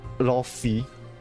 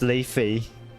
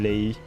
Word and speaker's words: Lei: I I just realized that her her name isn't like how you pronounce pronounce it isn't ly it's le I I was so like wait where's where's the isn't lei like l e i le lay then I can I